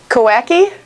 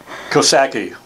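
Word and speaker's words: Coxsackie: I get a hint there's a silent letter in there one of the letters is silent cocky hahaha i was guessing the excellent silent kosaki i wasn't too far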